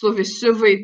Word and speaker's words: survey: Note that survey is the same as essay with the first stressed syllable.